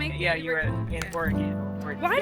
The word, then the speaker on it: Oregon: That's how you pronounce it, Oregon.